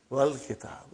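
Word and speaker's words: والكتاب: When it came in front of Hamzatul Wasal, you did not pronounce. You will say, wal kitab.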